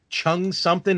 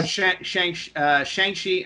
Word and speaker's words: Shang-Chi: Chung something and the Ten Rings? Oh, Shang-Chi and the Legend of the Ten Rings. Oh, okay. So I've been mispronouncing it.